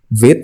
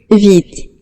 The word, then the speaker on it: Vite: Vite katanya ini kata dalam bahasa Prancis yang artinya quick atau cepat. Nah, cara pronunciation-nya atau cara nyebutinnya ada di sini, teman-teman bisa klik aja nih. Vite.